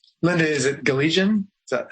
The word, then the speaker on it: Galijan: um I will uh do my best at pronunciation Linda is it gallian is that how am I saying your name correctly gallan gallan okay thank you um Linda was ordained